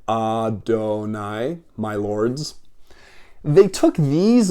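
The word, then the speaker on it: אֲדֹנָי: it and around it see these little little dots I put around it this thing it looks like a t is an a sound that's an O up there and that's a an a sound too going this way Adonai my lords they took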